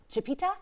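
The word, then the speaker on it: Chipeta: One was the Native American Chipita. Chipita, did I pronounce that right?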